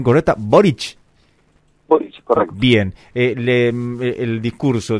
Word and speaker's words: Boric: asunción de gabriel boric y así es la pronunciación correcta moriche ahora bien en el discurso de gabriel boric